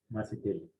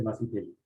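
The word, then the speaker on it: Mazetelli: Yo me llamo Macetelli. ¿Sí? Yo me llamo Macetelli. Mi apellido se escribe M-A-Z-E-T-E-L-L. Todo el mundo me dice Macetelli.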